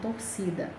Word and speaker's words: torcida: Neste caso, a palavra é chamada de paroxítona, como a palavra torcida. Torcida, a sílaba tônica é si, a penúltima.